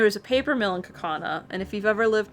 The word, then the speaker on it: Kaukauna: It's Kaukauna. And we had a teacher that pronounced it Kaukauna, and we thought that was funny.